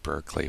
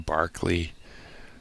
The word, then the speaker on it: Berkeley: ancient philosophers, and then I want to call him Berkeley, but don't they pronounce him Barkley?